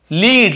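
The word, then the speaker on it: lead: रहता है आप देखेंगे लीड लीड याने नेतृत्व करना अगवाई करना और लीड याने होता है शीशा सेसे हम लेड कहते हैं लीड स्पेलिंग यही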